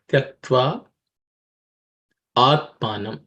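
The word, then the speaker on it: त्यक्त्वा आत्मानम्: up of two words, tyaktva atmanam. Okay, tyaktva atmanam. The a sort of becomes, sometimes it's one avagraha which is mentioned, sometimes two avagrahas also mentioned, but basically the a is silent.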